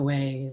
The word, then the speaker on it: Wei: that Lisa teaches at way wisdom calm and the way is spelled like in Lotus way w e I so way of chocolate